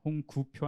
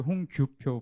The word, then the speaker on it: 홍규표: 발음을 홍구표 아니고 홍규표 부장입니다.